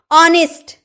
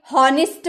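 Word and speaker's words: honest: ऑनेस्ट, आपने कभी हॉनेस्ट बोला है? बचपन में जरूर बोला होगा आपने हॉनेस्ट, क्योंकि आपको पता नहीं होगा कि एच चुप रहता है, साइलेंट रहता है।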